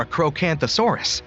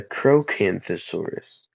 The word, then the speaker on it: Acrocanthosaurus: High-spined lizard, or a Crocanthosaurus, lived Acrocanthosaurus, not a Crocanthosaurus. Acro.